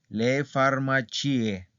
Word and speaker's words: farmacie: Y le farmacie, ¿ok? Entonces aquí la I sí suena.